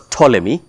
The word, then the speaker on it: Ptolemy: The Egyptian kingdom of the Ptolemies, which is pronounced with a P that starts. It's Ptolemy, but it's pronounced as Ptolemy.